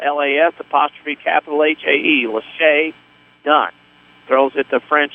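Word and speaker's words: Las'Hae: The name is spelled L-A-S apostrophe capital H-A-E. Lachey Dunn.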